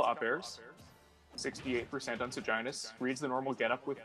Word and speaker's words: Seginus: No, I think it's Seginus. The actual word that Seginus is a type of a star, and in that context, that is the pronunciation Seginus.